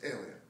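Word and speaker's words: Alan: It's pronounced the same way that it's spelled, A-L-A-N. You say it quickly, it's alien. That's how you pronounce my name properly.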